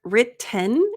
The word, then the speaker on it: written: Written is probably the easier way to say it, but with the American pronunciation, we often say written, kind of like mountain. So that's going to be a glottal stop.